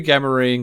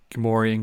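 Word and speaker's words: Gamorrean: all right now we get two gammarine guards or gamorean guards however you want to pronounce it fighting in it in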